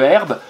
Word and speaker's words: herbe: On n'oublie pas la lettre muette, le H au début de herbe.